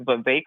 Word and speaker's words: Vivek: be a delegate for Vivek Ramaswamy. Did I say that right, Stephanie? You did, yeah. His name rhymes with cake, so it's Vivek Ramaswamy.